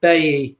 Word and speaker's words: Bailly: The way you say his name is Bailly, not what everyone is saying, says Jack West.